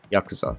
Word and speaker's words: yakuza: with organized crime gangs which is called yakuza or in proper japanese pronunciation yakuza they actually pledge that they're